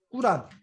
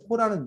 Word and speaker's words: 꾸란: 그래서 뭐 이런 정도들을 여러분들이 알면 되고, 그 다음에 꾸란, 코란이라고 하기도 하는데, 코란은 영어식 발음이고 우리가 보통 꾸란이라고 아랍어식 발음 꾸란인데, 이게 이슬람 경전인 걸,